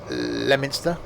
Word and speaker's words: Leominster: It's pronounced Leominster. Yeah, that's what I said. It's not Leo Minster, because that's how it's written.